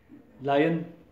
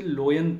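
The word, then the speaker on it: lion: लायन, इसको बहुत सारे बच्चे लोयन पढ़ते हैं, LOIN, लोयन। This is wrong, this is लायन।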